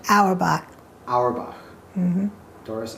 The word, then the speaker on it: Auerbach: at the house of Doris how do you pronounce her last name alibi Auerbach mm-hmm Doris Auerbach and we're here today to talk about your